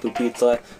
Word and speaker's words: pupitre: Actually, it's pronounced pupitre, but it's a poopy. It's spelled poopy tray, and it looks.